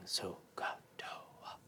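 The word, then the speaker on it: SOH CAH TOA: Native American tribe, and the tribe kept chanting So-ka-toa, So-ka-toa, So-ka-toa.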